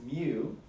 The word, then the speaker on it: mu: This cursive-looking M guy is pronounced mu, and he represents the population mean.